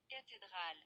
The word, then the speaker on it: cathédrale: Cathédrale. Yeah, cathedral. So we can see as the H is not pronounced.